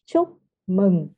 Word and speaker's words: chúc mừng: this U sounds like the oo in moon, right? It is more like the in book, the short o sounds in English. Chúc mừng năm mới. Okay. So chup mung num mới. Am I saying it right? Okay, you say correctly.